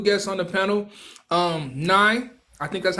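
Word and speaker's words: Niy: Um, Nye, I think that's how you say it.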